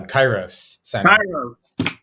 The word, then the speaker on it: kairos: appreciate it um uh the pronunciation is was close to kairos greek uh greek old greek word there's uh a couple